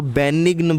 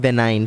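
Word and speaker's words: benign: कई लोग इसको बेनिग्न बोलते हैं ना, इसका एक्चुअल प्रोनाउंसिएशन है बेनाइन।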